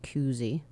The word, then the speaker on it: koozie: a K, and then it's pronounced koozie. Did you just say koozie? Koozie. Like Now two you O's, added like another- school. Koozie. Well, school is 2 O's. Right. That's what I'm saying. It's pronounced that way. Right, but this is only 1 O, even though it's an ooh sound.